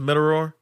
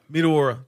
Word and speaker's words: Meteora: Is how you pronounce it? Meteora. Meteora.